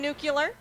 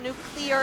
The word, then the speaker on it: Nukkuler: I'm Nukkuler. It's spelled that way down there. Yes, it's not nuclear, it's nukkuler.